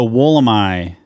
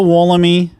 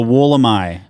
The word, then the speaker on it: Wollemi: do great is the woolamai pine yes yes and the Crowd Goes Wild it's not the wollami or wallamy nope it's the wool am I that is the uh the Australian pronunciation which I think is